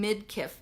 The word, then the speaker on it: Midkiff: commit how do you say your last name Midkiff mi d ki FF you could see her